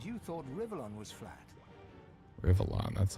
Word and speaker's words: Rivellon: Rivellon, that's how you pronounce it.